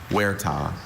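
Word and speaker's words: huerta: Any alternate pronunciations? I have just the one. Wera.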